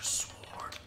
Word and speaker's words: sword: we need the master sword. We need shrines. We need orbs. We need master sword. I personally like to say, I like to pronounce the W in sword.